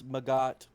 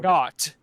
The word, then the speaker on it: Magot: What my ghost sounds more Maggot. or Maggot. The T apparently is silent. Maggot. Okay. Let's get started. It's French apparently.